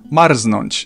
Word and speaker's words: marznąć: There are some very rare cases of R and Z not forming J, but you'll probably never encounter them, and I can only think of one example, marznąć, so I'd recommend to